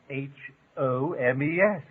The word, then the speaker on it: Holmes: The L in Holmes, of course, it's obvious. You mean to tell me that Holmes has got an L in it? course, it's spelled Holmes, and all you need is Homes.